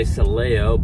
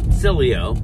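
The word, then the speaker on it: Sileo: did tell him watching Dan Silo I believe that's how he likes to pronounce it I say celeo but celo either way it's Italian ex Cowboy ex he wasn't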